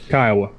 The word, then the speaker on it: Kiowa: 1500, followed by the Cheyenne, the Crow, the Kiowa, if I pronounced that right. Kiowa.